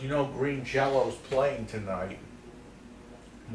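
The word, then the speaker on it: Green Jellÿ: green jelly t-shirt on green jello with even though it's spelled jelly it's pronounced jello that's that's that's the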